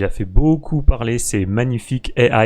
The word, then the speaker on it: Magnific AI: fait beaucoup parler ces magnifiques ai alors oui je le prononce à la française je vous mettrai le